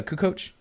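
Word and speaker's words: Kukoč: already I mean no Kukoc once you did the C's pronounced like CHS I yeah I just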